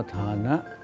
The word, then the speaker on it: ทาน: ข้อ ที่ 1 คือ ทาน หรือ ธานะ ภาษา บาลี อ่าน ว่า ธานะ แปล ว่า การ ให้